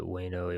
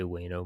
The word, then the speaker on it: Jeuno: in upper bueno um i pronounce it wayno it might be you you know i i don't have a clue how it's meant to be pronounced um i say wayno most of the time um so um we